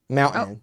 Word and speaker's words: mountain: his pet peeves is he hates people who don't pronounce the t in mountain mountain oh oh he would